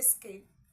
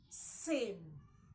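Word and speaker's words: scene: s c n e s c n e is what do you say skin no s c e n e is sin sin sin okay and lastly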